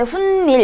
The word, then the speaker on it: 훗일: 자, 이런 경우에도 훈밀 발음할 때 훈밀 이렇게 두 번 덧나죠.